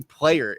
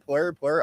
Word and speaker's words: PLYR: This is actually player is how you pronounce it. This entire time I was like OnPlyr, plur. Okay, cool. Peace, love, unity, and respect for all the ravers out there. But no, this is player.